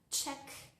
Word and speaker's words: cheque: casi todas las palabras, salvo en algunas excepciones. Por ejemplo, en la palabra check, esto es spelling de UK, o en la palabra